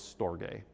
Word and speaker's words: storge: And so, he talks about first one is storge. Um so, it's a hard G long E. Um and he says that storge was a word that the Greeks used to describe bonds of kinship.